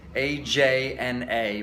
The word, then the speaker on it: Ajna: about the Ajna chakra, spelt A-J-N-A, pronounced Ajna. You hear different ones. I don't know, I was a little surprised Deepak Chopra says Ajna. I don't know if he's just because he's talking to a Western, I don't know, but Ajna is the way I understand it to be pronounced.